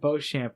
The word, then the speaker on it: Beauchamp: May I just say, I think Boucamp is the correct way to say it, but they pronounce it Beauchamp the entire time.